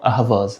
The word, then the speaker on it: Ahvaz: Et aujourd'hui, dans le nom de la ville, il ne reste plus que le mot ahwaz prononcé en perçant Ahvaz.